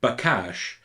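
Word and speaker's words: בקש: or to inquire well as we sound out that word bakash you can hear that second syllable cache and we can use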